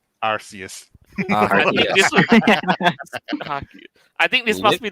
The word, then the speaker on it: Arceus: people need to start learning how to pronounce arceus properly arceus i think this must